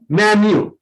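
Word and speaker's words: menu: और मीनू नहीं, मेन्यू।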